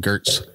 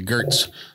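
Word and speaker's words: Goetz: But his last name is spelled G-O-E-T-Z. And I said, yes. You need to throw an umlaut on there so I can call you Gertz.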